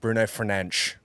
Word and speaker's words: Bruno Fernandes: In Portuguese, it's pronounced Bruno Fernandes.